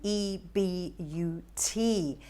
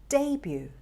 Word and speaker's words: debut: about this one d d-e-b-u-t that's also a very confusing one correct pronunciation is debut debut now let's look at